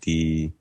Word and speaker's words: Djokovic: It's actually it's a pronunciation thing. It's like DJOKVIC, I think.